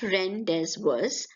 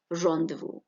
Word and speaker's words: rendezvous: It is not rendezvous, but rendezvous.